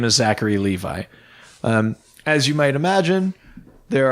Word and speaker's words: Zachary Levi: Zachary Levi to star in DC's Shazam. That's right. So, Zachary... Did I say his name right? I never say people's names No, right. you did, actually.